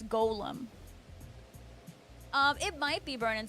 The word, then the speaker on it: Golem: it was a struggle it's not Gollum it's Golem um it might be